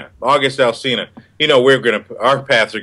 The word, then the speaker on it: August Alsina: August Alsina. August Alsina.